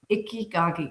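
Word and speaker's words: Ikigai: And Ickyagi is the way Ickyagi. Yeah, that's the way you say is Icky. That's how they say it.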